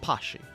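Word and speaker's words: Patxi: Alright, my name is Poxty, who I've been told is pronounced Pashi.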